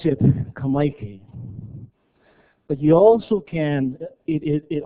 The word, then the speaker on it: Kamaiki: So we pronounce it Kamaiki.